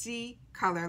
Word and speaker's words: CColor: color and they're saying it's pronounced c color like s-e-e but it's spelt c-c-o-l-o-r they're saying it was